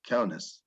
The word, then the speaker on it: Kaunas: How do you say Kaunas? Kaunus. Kaunas. Okay, thanks.